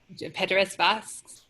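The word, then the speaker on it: Pēteris Vasks: And Stacey's playing, how do you pronounce that composer's name? Pedras Vox? Yes. Yes.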